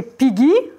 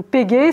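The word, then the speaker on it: πηγή: On retrouve exactement ces 2 mêmes mots dans leur tradition grecque, Phréar, le puits, et Pigi, ou Pégé, selon comment on prononce, la source.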